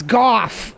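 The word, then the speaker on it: Gough: Some people call him Go because it's spelled like Van Gogh, but Van Gogh isn't pronounced Go, it's pronounced Van Goff. Actually, it's Goff.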